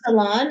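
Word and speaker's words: Ha Salon: Hasalon.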